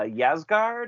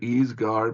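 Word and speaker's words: Ysgard: one and that's uh yazz guard how do you how do you pronounce that Dave um yeah I I mean yeah it may be official ease guard but yeah yes guard okay all right and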